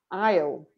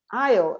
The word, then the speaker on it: aisle: Be careful with the pronunciation of this word because the S is silent. Aisle. Aisle.